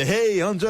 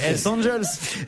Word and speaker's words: Hells Angels: C'est pas des Hey Angels. Hey Angels. Hells Angels. Une bande de Hells Angels leur coupe la route et les oblige à s'arrêter.